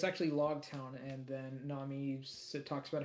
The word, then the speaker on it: Logtown: Um, so it's actually Logtown, and then Nami talks about how Logtown is where Gold Roger was born, and and where it's okay.